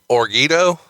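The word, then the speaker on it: Jorgito: If you had the J is silent, so it's Orgito. That sounds like something you put on chips. It's kind of like an H. It's like Jesus.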